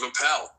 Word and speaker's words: Appel: I did intend with the ish ending to give a little nod to the ish movement started by Steve Appel, which rhymes with Steve Carell, and both funny intellectual